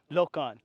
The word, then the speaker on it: Lokon: Is Lokon? You say that, Lokon? Yeah. Lokon, right. My pronunciations are terrible.